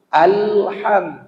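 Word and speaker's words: الحمد: tengah tenggorokan pangkal tenggorokan Al h-nya naik ke tengah tenggorokan alham jangan Al HAM alham itu salah awalnya alnya di pangkal tenggorokan hanya naik di tengah tenggorokan dalam istilah tajwid pangkal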